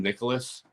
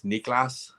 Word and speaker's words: Niklas: if you get like if you call them Nicholas like he's probably not going to correct you because they're just they're nice but then you don't learn how to pronounce it correctly and then half the people are calling to Nicholas because they called the Nicholas to his face and he didn't correct them so I think it's Niklas um Antilles but I